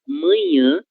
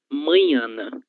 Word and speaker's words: manhã: Em alguns momentos, eu observei a pronúncia dessas duas palavras como manhana, tal qual existe no espanhol, ok? Então, essa mesma palavra manhana que vocês utilizam no espanhol, que tem uma pronúncia muito próxima a esta palavra do lado esquerdo, ela tem duas equivalentes no português.